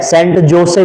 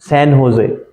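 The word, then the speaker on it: San José: सेंट जोसे नहीं है। सेंट होजे सेंट होजे। [गला साफ़ करने की आवाज़] सैन होजे सेंट भी नहीं है। सैन होजे सेन होजे ठीक है स्पेनिश वाला वो है गुान कास्ट माउंटेन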